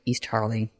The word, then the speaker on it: East Harling: Starling is similar in pronunciation to the name of the village near the estate where the levels lived in Norfolk East Harling.